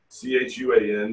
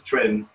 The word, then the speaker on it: chuan: clear tai chi twin c-h-u-a-n a lot of people in america pronounce it chuan but every chinese i've ever dealt with it says trend history please realize that